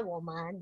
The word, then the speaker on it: 我们: Berarti ini bacanya woman ya kan.